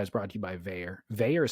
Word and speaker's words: Vaer: Well, anyways, as you're well aware, Tools to Live By is brought to you by Veyer. Veyer is spelled V-A-E-R.